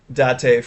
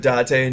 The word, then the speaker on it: Date: LMR remind you of when someone called Makoto Date from Yakuza date instead of Dante.